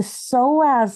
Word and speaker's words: psoas: as I mentioned earlier the soaz muscle so you can Google this later if you want it's spelled with a p so p s o a s your soaz muscle is